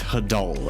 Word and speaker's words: hadal: going for something more ocean themed but it's pronounced hadal and it does not have a nice ring